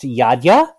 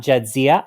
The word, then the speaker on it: Jadzia: Like it is from Eastern Europe, but it's pronounced Jadzia, not Jadzia.